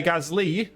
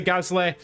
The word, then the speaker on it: Gasly: Leclerc P6 and Pierre Gasly. I know, I've seen a few comments on TikTok as well. I say Gasly, it's Gasly.